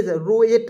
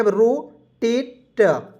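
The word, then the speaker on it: rotate: से लिखेंगे रो टी ए टी इसका उच्चारण जो है एट के रूप में करेंगे रोटेट रोटेट यहां देखिए मैंने आपको बताया एटी आएगा अंतिम में इससे पढ़ेंगे रोटेट रो यहां देखिए टी रो एट नहीं पढ़ेंगे रोटेट पढ़ते हैं दोस्तों थोड़ा सा यहां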